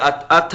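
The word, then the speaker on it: אתה: But it's pronounced Ata, but it's spelled At.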